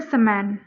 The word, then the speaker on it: समन: इसको कैसे याद रखेंगे समन को आप प्रोनाउंस करेंगे समन समन मैनपुरी समन बर्ड